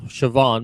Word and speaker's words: Siobhan: Siobhan, that's pronouncing Siobhan, mind you.